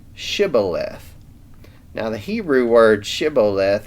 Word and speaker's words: shibboleth: question hmm please say shibboleth now the hebrew word shiboleth has no clear meaning really but in the ephramite dialect it was apparently pronounced siboleth instead of shibboleth so that's how they